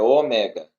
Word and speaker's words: Ômega: não é Ômega é Ômega Ômega a forma correta de pronunciar certo porque a ênfase é no é tá mega me